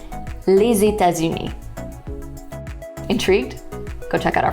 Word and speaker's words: les États-Unis: audio, we see that individual words are pronounced les, État, and uni. Yes, French is famous for its silent letters. Okay, but now if you check out the full phrase, you'll see that when you put all the words together, you get les États-Unis.